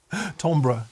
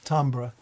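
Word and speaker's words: timbre: Tombra, tambra, timber, however you say it.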